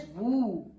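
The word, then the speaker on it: vous: okay and this is vu s will not be pronounced here so vu Vu Vu means you in the respectable way you can say and this is new.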